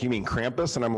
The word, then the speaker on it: Krampus: If you've never heard of it, like people would probably pronounce it that way. But over here, it's Krampus.